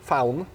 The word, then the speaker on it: Faun: So, first First of all, I'm with Oliver from the band phone found. Actually, that's the right pronunciation.